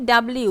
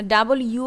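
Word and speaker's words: W: ভি তারপরেরটা কি ডাবলিউ আমরা কি বলি ডাবলিউ ডবলিউ হবে ডাবলিউ হবে না ডাবল ইউ হবে ডাব ইউ ডব ইউ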